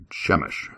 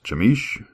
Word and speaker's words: Chemish: Chish, I guess. Chamish. Chamish. C H E M I S H. It's either Chish. Chemish or Chamich. I'm going to say Chamish.